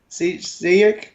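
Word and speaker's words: Šejić: How do you pronounce it from Aquaman? Sejic?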